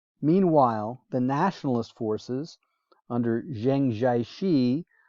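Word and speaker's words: Chiang Kai-shek: the nationalist forces under zhengchaichi also sometimes pronounced zhang chai czech dominated southwestern china protected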